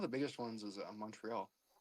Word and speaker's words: Montreal: Let me let me pronounce Montreal how you're supposed to. Montreal. Montreal. Yeah, there you go.